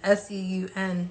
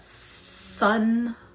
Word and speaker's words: Seun: S-E-U-N. Seun. It's not Seun. It's not Sun.